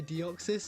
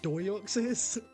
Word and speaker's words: Deoxys: Nah, earlier I went to say Deoxys and I said Doyoxys. I was like, wait, would that be the O before like the E? Doyoxys. Deoxys is a southern brother.